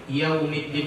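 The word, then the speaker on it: يوم الدين: Oke, di huruf Yaumiddin itu ada isyarat mengumpulkan bibir ke depan atau memenyungkan mulut karena dia ada huruf waw yang mati. Maliki Yaumiddin. Sama-sama. Maliki Yaumiddin. Kalau tidak diucapkan seperti itu, maka nanti bunyi wawnya tidak sempurna. Maliki Yaumiddin. Tidak maju maka tidak sempurna bunyinya.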